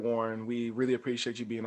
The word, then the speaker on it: Wuhryn: Yes, you can follow me on Instagram and Twitter at Warren. That's WuhrynDumas. The S is silent.